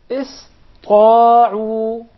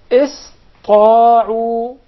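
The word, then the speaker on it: اسطاعوا: enough would tend to mispronounce the letter Sin, and instead they would pronounce it as Saad, because it suits more the Ta.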